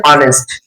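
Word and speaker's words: honest: যেমন আমরা যদি উদাহরণ দেখি এখানে বলা হচ্ছে অনেস্ট অনেস্ট এখানে এই উচ্চারণ আমরা জানি হবা না হয়ে কি হয়েছে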